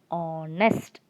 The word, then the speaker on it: honest: not the case because in this word h is silent we do not pronounce h and so the word begins with o sound so it will be pronounced as honest not honest it's not